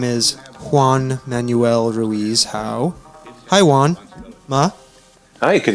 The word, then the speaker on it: Juan Manuel Ruiz-Hau: Again, my name is Juan Manuel Ruiz-Hau. Although you butchered my name, that's all right.